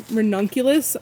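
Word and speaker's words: Ranunculus: Here, I'm hardening off some renunculus is how you say it.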